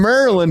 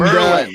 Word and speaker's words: Maryland: So I got my friends from Maryland here, and Merlin, not Maryland. Oh man, this guy.